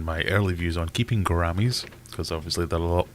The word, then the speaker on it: gouramis: Not much rhymes with salami, so gouramis do have a use.